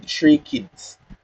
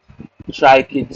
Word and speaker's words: tracheids: we call the xylem tracheids. You guys heard that term before? Trichids or tracheids, depending on how the person pronounces it. Tracheids. That is how it's spelled.